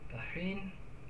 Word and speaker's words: Bahrain: Bahrain, that's how you pronounce it.